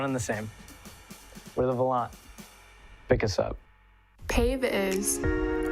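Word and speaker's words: Volante: Lately, you might have seen one of these red stands around campus and wondered, hey, what's the Volant? Well, actually, it's pronounced the Volant.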